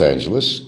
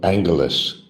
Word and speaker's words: Angeles: I call it Angeles. like Los Angeles, California or Angelus City over in Manila, but some people call it Angalas. I go by the California pronunciation of it.